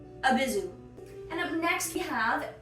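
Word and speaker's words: Abyzou: It's like abyssal and a zoo. It's an abyssal zoo. A Bizu.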